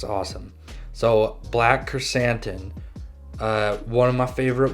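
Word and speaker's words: Krrsantan: fett it's good okay so number one black chrysanthemum so i used to say kerstan which is really stupid because now that i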